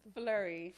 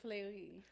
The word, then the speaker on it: Fleury: that like myself that don't know how to pronounce it the right way, it's Fleury. Fleury. Yes, you got it. See? See? And Or if you want to say Fleury.